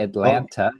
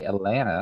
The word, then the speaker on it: Atlanta: See, that's another name that you where the T is silent. You don't say Atlanta. You say Atlanta.